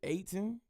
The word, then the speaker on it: Eytan: He said it rhymes with Akon, so I'm going to go with Aiton.